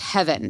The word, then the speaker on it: Heven: We refer to it as Heaven. It is actually Heaven. It's Heven, but it's pronounced Heaven. So for all you listeners out there, it's not Heaven, it's Heaven.